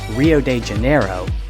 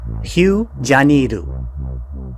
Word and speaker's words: Rio de Janeiro: and vibrant nightlife while native English speakers commonly call the city Rio de Janeiro that's not its true pronunciation so bear with me while I attempt to wrap my tongue around a more authentic way to say the name Hugh janiru how's that ready for